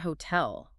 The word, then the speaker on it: hotel: But look at the word hotel. Where does the stress land? It lands on the second syllable. Hotel. Because the T is situated at the very beginning of a stressed syllable, it commands phonetic attention. It's doing work. Exactly. The speaker inherently puts more physical energy into that syllable. So, the consonant remains a crisp true T.